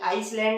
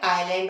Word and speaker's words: island: तो इस तरह से इन्हें हम लोग आइसले या आइसलैंड नहीं पढ़ते, बल्कि क्या पढ़ते हैं? आइलैंड और आई। तो एस कहाँ साइलेंट दिखा आपको? आई और एल के बीच आने पर, है ना।